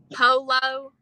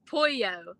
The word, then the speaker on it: pollo: He'll say polo, but instead it's pronounced pollo.